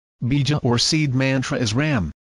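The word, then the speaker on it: रं: or seed Mantra is Ram pronounced as rang our sound produces with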